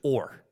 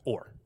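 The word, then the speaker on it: עור: The Hebrew word for skins is or. It sounds like or, okay?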